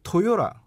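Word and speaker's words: Toyota: 이제 실제 들어보면 토요타라고 하지 않고 토요라 약간 이런 식으로 발음이 됩니다.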